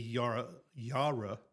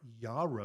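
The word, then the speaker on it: Yarra: the Yara Yara sorry Yara Valley. It's if you look at it, you're like Yara Yara Yara Valley, but it's like Yara and they will punch you if you say it wrong or at least it's sternly to you.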